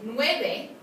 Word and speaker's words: nueve: So the letter v, like in nueve, sounds like a b, not a v.